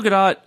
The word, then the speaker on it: Gal Gadot: I've said Gal Gadot a lot. I've been told by people in the know it's pronounced Gadot.